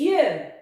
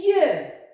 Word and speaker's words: yeux: Milieu, le son ye s'écrit I-E-U. Milieu. Les yeux. Les yeux. Alors le X muet à la fin ne se prononce pas et le son ye s'écrit avec Y-E-U. Les yeux.